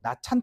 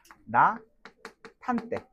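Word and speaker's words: 낮 한때: 나찬 이렇게 하는게 아니라 나 탄때. 이렇게 해 줘야 되겠지?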